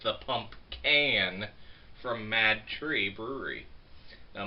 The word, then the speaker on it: PumpCan: I am actually saying this one correct because it's the PumpCan from Mad Tree Brewery.